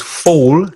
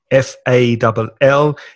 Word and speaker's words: fall: And be very careful the pronunciation of these two verbs because fall, caer, F-A-L-L, is the same vowel sound as tall. So fall, tall, small, that's the sound.